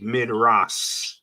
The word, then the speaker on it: Midrash: And so it would be Midrash if the dot was over here. So this dot is telling you and letting you know to pronounce this last letter as sh, the sh sound.